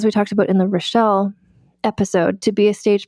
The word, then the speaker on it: Rachel: couple years ago about an actress named Relle. No last name. Like, it's spelled like Rachel.